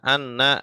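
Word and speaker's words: أنّى: Panjang Ya, dibacanya, ya panjang. bengkok. Panjang bacanya.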